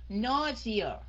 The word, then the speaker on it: nausea: Nausea. Nhấn cái âm đầu nha.